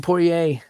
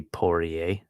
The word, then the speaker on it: Poirier: Like, it shouldn't be Poirier, right? It should be Poirier.